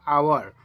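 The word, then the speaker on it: hour: जो first word होता है एच, ये क्या है, तो प्रोनाउंसिएशन इसमें कीजिएगा तो ये आ जाएगा आवर।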